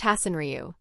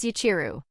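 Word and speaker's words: 八千流: And the name isn't pronounced Hasenryu. It's read as Yachiru. Huh? It's read as Yachiru, not Hasenryu. Technically the meaning is the same, but that's the Chinese reading.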